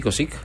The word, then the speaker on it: Kocik: ¿Se pronuncia así, Kosic? Sí, está bien.